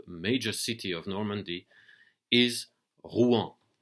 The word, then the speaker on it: Rouen: there that the major city of Normandy is Ruan r u n it's pronounced hu in French and that's the city that we're